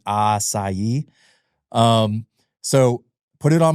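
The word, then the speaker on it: açaí: before when they came they were calling it a Kai probably at first right I mean people still do that uh we we're here to try to help people learn the correct pronunciation aai um so put it on my menu and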